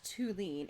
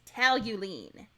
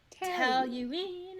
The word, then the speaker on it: toluene: like stepwise nitration of toluene. I said that wrong. It's not toluene. It's toluene. Toluene. It doesn't look like it, but I listen to all of the pronunciations.